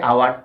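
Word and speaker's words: hour: তাহলে সেক্ষেত্রে এইচ এর উচ্চারণটা সাইলেন্ট থাকার কারণে এইচ এর পরে যে অক্ষরটি আছে সেটা হচ্ছে কি ও, অর্থাৎ এটা একটা ভাওয়েল, আর সে কারণে উচ্চারণটা হয় আওয়ার, হাওয়ার হয় না। যদি উচ্চারণটা হাওয়ার করো তাহলে সেটা অবশ্যই ভুল।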